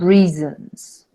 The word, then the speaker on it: reasons: For thousands of different reasons.